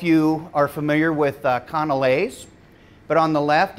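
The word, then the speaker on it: canelé: don't know if you are familiar with uh conor lays but on the left it's uh pronounced conolay this is from the muller lardon cafe which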